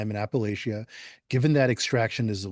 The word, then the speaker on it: Appalachia: And here in the south we refer to it as Appalachia but up north it's Appalachia. So I'll call it Appalachia but I'm uh respecting that there are different pronunciations as well.